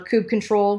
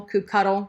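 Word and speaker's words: kubectl: with kubernetes apply or cube control Cube cuddle whatever pronunciation that's the binary you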